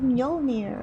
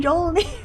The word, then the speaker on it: Mjolnir: And then I learned that you don't really say the J. And I'm like, it's like Mjolnir. Okay, cool. So I've been saying it wrong this whole time. Mjolnir.